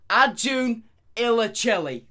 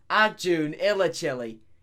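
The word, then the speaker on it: Acun Ilıcalı: actually pronounce his name so turkish media tycoon pronounced arjun illachilli i have clarification of that by the way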